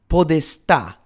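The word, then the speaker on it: podestà: And so as the 12th century ended and the 13th progressed, the figure of the podista, that's P O D S T with an accent on the A, with a stress on the A, was affirmed.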